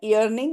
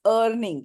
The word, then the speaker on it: earning: reaching the next level it is not earning it's earning e a RN is earn okay pronunciation earn earning with with earning the high